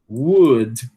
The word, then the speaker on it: would: Eh, a gente não deve pronunciar esse L, né? Então, ó, could, could, should, would.